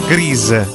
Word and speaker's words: Grease: Guardi, la pronuncia inglese è Grease.